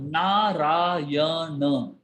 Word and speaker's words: Narayana: And the word Narayana has 4 syllables.